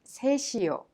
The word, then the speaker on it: 셋이요: The final consonant 시옷 in set of 셋이요 is prolonged and connected to 이요 and is pronounced 셋이요.